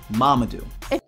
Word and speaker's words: Mamadou: My name is Mamadou, not Armadillo, not Marmaduke, not Mumu, not Mumam, Mamadou.